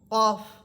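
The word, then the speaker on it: قاف: ফা বাতাস ছেড়ে দিয়ে পড়বেন ফা কফ কফ এটা জিব্বার গোড়া উপরের তালুর সাথে লাগবে কফ কাফ কাফ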